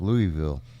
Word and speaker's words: Louisville: It says Louisville. Pronounced Louisville. Yeah, but it's pronounced Louisville.